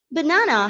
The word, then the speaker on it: banana: example of banana right banana has got three syllables and you know the second syllable is stressed so it has got